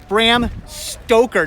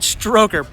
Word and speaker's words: Stoker: Bram Stoker, not Stroker. Bram Stoker. I said it right the first time.